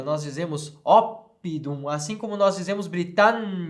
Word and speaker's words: oppidum: nós fazemos Gália certo quando nós temos duas consoantes acontece isso dá um tempo a mais na pronúncia nós vamos dizer op de um vamos dizer gallia vamos dizer Britânia certo Então temos que